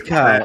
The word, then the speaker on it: Kyle: It rhymes with smile. It is Kyle.